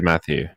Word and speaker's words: Matthew: to the stream matthew matthau mateo i can never remember how to pronounce the name oh it is matthew i'm seeing a black